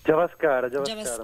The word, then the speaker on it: Javaskara: Javascara, giusto? Esatto. O Javascara? Javascara. Molti lo pronunciano male, però esatto, così Javascara.